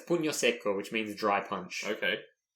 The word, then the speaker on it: pugno secco: How do you pronounce the... So it's pugno secco, which means dry punch.